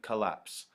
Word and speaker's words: collapse: means that they're unstressed so an I am is an unstressed and stressed syllable as in collapse collapse collapse if you listen to it it's the second part that is stressed coll collapse collapse collapse it's the apps part which sounds heavy collapse a Roy it's a